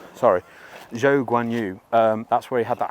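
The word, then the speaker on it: Zhou Guanyu: This is where George Russell and Quadran Cho, how do I pronounce his name? Zhou Guan Yu. Zhou Guan Yu. Sorry, Zhou Guan Yu.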